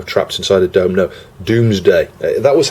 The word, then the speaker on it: Domesday: But I think the pronunciation is Doomsday. I do clearly remember my tutor at school saying, you know, it's the Doomsday project, not the Domesday project.